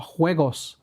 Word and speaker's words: Juegos: Thank you for that, Hola Juegos. I think, is it Juegos or is it Juegos? Because I got told the Spanish, the J is pronounced like a H.